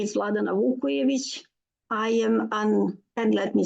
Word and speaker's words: Vukojevic: It is my pleasure to welcome Vladana Vukojevic. Is that right? Am I pronouncing that right?